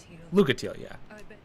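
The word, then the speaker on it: Lucatiel: yeah my name is Luca teal well let's see how she pronounces it my name is lucatelia okay so basically the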